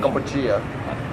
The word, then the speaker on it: Kampuchea: Kampuchea, right? And that's just the Khmer saying for Cambodia. Kampuchea is Cambodia.